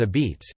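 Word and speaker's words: apizza: Coastal Connecticut is known for distinctive kinds of pizza, locally called a pizza, pronounced locally as a beets, differing in texture, thin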